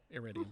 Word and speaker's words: iridium: He's also pulling hydrazine and how do I pronounce this? The catalyst, the iridium? Yeah, iridium.